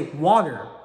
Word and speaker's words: water: Because the way I pronounce it is just basically the T becomes a D. So I say water, like water.